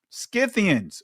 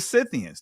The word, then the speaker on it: Scythians: So you see they're tied to the Scythians or the Scythians. They're connected. And the reason why I say it both ways, family, because it's pronounced both ways.